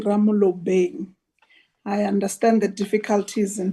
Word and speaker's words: Ramolobeng: It's A K Ramolobeng. I understand the difficulties in pronouncing my surname.